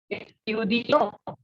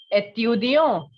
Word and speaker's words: étudiant: Listen, étudiant. The T will not be pronounced, and we know that the sound of E with such an accent is A.